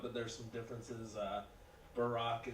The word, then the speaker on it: Barack: there's some differences uh Barack is two syllables Brock one syllable he's black I'm white